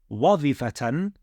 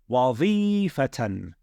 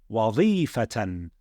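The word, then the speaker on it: وَظِيفَةً: Not wadhifatan. No. Wadhifatan. The ya with the sukoon is carrying, it's lengthening the sound of this kasra. Okay? So the word is pronounced wadhifatan.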